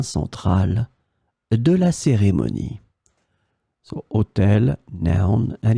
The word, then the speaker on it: hôtel: In this lesson, we will discover together two words that are written differently but pronounced the same way. Hôtel, hôtel.